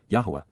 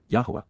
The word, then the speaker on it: Yahowah: reveals, Naam, announces in advance of it occurring, Yahowah, Yahowah, God's one and only name pronounced as guided by his Torah, instructions on